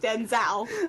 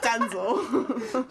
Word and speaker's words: Denzel: Sheila from s that I believe it's pronounced Denzel not danzel Sheila you controversial lady